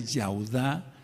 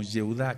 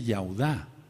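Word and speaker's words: יהודה: hei anoten eso Entonces no se pronuncia Como yuda qué es lo que ha pasado con la amada casa de Judá que en todo han querido ocultar el ya el nombre de yahwe Entonces no se dice si tú buscas bien no se dice yuda se dice yauda Entonces qué es lo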